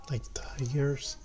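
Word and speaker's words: Ligier: the leger JSP3 liers. It rhymes with Tigers.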